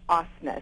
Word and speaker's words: Osnes: It's Osnes. It's Norwegian. So, oh, really? Like Saab. Think about Saab the car.